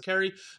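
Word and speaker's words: Kaare: I believe that's how you pronounce his name. It's K-A-A-R-E. I'm assuming it's Cary.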